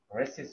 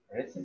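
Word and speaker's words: recess: night in the dusty রেসিস of their mind রেসিস মানে হচ্ছে ছুটি রিসেস ছুটি উচ্চারণটা হবে রিসেস dusty রিসেস of their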